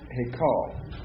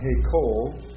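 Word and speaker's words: היכל: good um he call now why is that not he Cole if if I pronouncing it he Cole what would that last V be no well I'm not saying change the Val I'm saying it it appears like this but it's a different Val this is a okay yeah if I pronounced it hey Cole I'd be pronouncing it as a comet um but it's not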